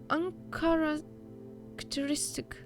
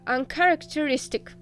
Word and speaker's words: uncharacteristic: She was piercing the forest with incredibly adult eyes, uncharacteristic for her. Uncharacteristic for her. Oh. Куда? Ударение! Ударение! Да, uncharacteristic.